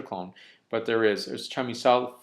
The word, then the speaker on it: Chamisal: I guess my pronunciation comes from an upbringing where I would always say that the word, because this is an actual plant, would be chamisa. And extending that out would be chamisal. So I may use that pronunciation, but I believe it's most often pronounced as chamisal.